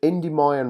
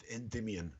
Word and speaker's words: Endymion: if i'm saying this right loopy is it indy mayan road is that how you say it yeah in endymion endymion road okay so debian road endymion road